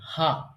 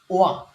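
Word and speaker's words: は: হা। এটি যখন topic particle হিসেবে ব্যবহার হবে, অর্থাৎ নাউনের পরে, তখন এটি উচ্চারণ হয়ে যাবে ওয়া। কিন্তু এটির মূল উচ্চারণ ছিল কি? হা।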